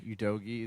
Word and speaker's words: Udogie: Udogie is probably going to be number one.